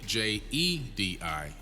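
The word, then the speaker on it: Djedi: ancient Kemet okay and they're spelled d j e d i Jet and they're pronounced Jedi and he took that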